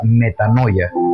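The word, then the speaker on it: μετάνοια: que se transmite en una palabra que se pronuncia metanoia, que traducido significa cambio de mentalidad.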